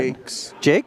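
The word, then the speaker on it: Jacques: Jax? Do you know how to pronounce that? Jakes.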